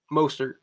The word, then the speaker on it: Mostert: Is it Mostert or Mostert? Mostert. That's what I thought.